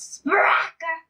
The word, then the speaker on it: Sprecher: You said it wrong. It's Sprecher.